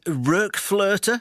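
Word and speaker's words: RökFlöte: Anderson to talk about, what's the definitive pronunciation, Ian? RokFlote? I'm looking at the umlauts over the O's. That's just perfect, yes. A good umlaut shouldn't go unnoticed, and you got it.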